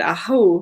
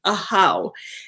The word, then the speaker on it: Ahau: And I drew the card Ahu. I think it's Ahu. Ahau is how it's pronounced.